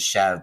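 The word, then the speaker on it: chèvre: known for making incredible Chev Chev is spelled s or c h v r e um Americanized pronunciation is Chev but it's goat it's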